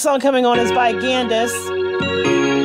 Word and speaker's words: Gandice: This next song coming on is by Gandice. Now, I looked this up like four times to make sure it wasn't Candace, but it is spelled with a G, G-A-N-D-I-C-E, Gandice.